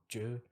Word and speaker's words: Zhu: Chinese American guy called John Ju. That's ZHU, the Chinese spelling mhm, and pronunciation.